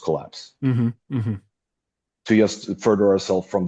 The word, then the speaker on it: KLPS: And if we just type Collapse afterwards, people will still understand it's supposed to be pronounced Collapse.